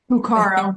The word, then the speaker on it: Cuccaro: And we have Caroline, am I saying it right? Cuccaro? Cuccaro, you were close.